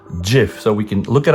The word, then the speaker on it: GIF: questions of the Internet it's pronounced GIF and not GIF end of story all right it's pronounced JF some people even saying drive but no it is JF so we can look